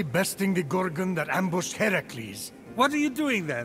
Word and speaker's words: Heracles: So, Phoenix, after boldly besting the Gorgon that ambushed Heracles... What are you doing there? That thing with your voice? Heracles? Yeah, that! That is how it's supposed to be pronounced.